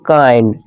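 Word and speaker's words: kind: जैसे कि काइंड काइंड किंड नहीं इसे किंड नहीं पढ़ेंगे। इसे काइंड पढ़ेंगे।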